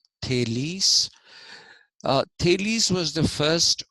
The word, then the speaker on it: Thales: the slide okay Tes it's not pronounced Tales it's pronounced thales uh Tes was the